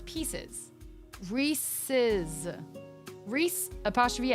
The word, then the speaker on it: Reese's: Reese. Apostrophe S. Reese's.